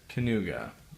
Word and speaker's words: Kaniuga: to pronounce his name it's uh Trent kuga I think is how it's pronounced anyways um I never